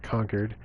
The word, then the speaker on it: Concord: several from conquered it looks like Concord but I think it's a local dialect they pronounce it conquered as well vault-tec supervisors